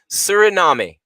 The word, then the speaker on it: Suriname: They phonetically put it in there. Suriname.